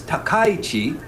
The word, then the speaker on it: Takaichi: So many people, there are a couple of pronunciations, the way the kanji is written for the last name. Her name is Takaichi. It's Takaichi. It's not Takaichi, it's Takaichi. So you pronounce your name Takaichi.